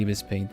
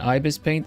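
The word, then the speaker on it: ibisPaint: on her leg too the first pronunciation Ibis paint if you're American I suppose like you say um I do I've heard I've heard both depending on where you're from it's because it's one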